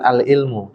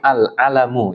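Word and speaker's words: العلم: Itu bacanya bukan al-ilmu, tapi al-alamu ya, al-alam ya.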